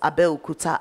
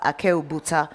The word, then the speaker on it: Abeokuta: I still have a friend who calls Abeokuta Akeobuta till today, you know, and I guess understandably.